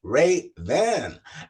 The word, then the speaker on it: Rayven: I'm not going to mess up her last name, but her name is Rayven. And did I pronounce that right? Yes, you did.